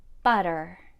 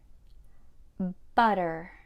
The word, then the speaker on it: butter: two vowels for example butter butter sounds more like a d rather than a doesn't